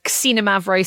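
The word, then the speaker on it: Xinomavro: It's uh Cina Mavro spelled with an X is not exactly the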